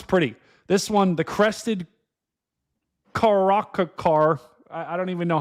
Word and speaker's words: caracara: This one, the crested caracara. I I don't even know how to pronounce that.